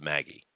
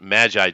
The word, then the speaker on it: Magi: I don't know if you guys know that that's actually pronounced Maggie. Maggie, really? Like Yeah, the name? yeah. But Magi just sounds so much cooler, doesn't it?